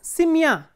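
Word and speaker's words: семья: So, if the ending is stressed, for example, simya. In simya, the ending is stressed, the stress is on ya. So, how will you decline this noun in the instrumental case?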